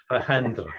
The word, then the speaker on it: Alejandra: I always get it wrong with this J in the middle. Is it Alejandra? Alejandra. No. Alejandra, that's right.